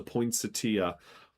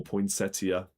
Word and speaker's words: poinsettia: The Mexican plant known as the Christmas flower is the poinsetia or poinsettia, however you want to pronounce it.